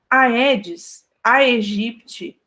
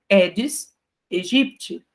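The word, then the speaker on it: Aedes aegypti: dessas regras é que os ditongos o que que é um ditongo né é quando tem duas vogais juntas naquela aquela sílaba tá então de tongos a e e o e são pronunciados como e tá então a edes a egipte que é o mosquito da dengue na verdade se pronuncia como edes egipte tá ã quando nós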